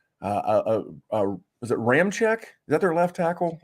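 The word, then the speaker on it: Ramczyk: of marcus davenport uh uh uh was it ram check is that their left tackle or right tackle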